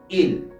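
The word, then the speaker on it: ils: ellos ellos ellos en francés se diría IL IL bien en la forma gramatical es importante porque pues en la forma gramatical tenemos que Añadir la s la s al final de la palabra indica pluralidad ellos pero en francés aplica esta regla gramatical en donde la letra s al final no se pronuncia no se pronuncia Entonces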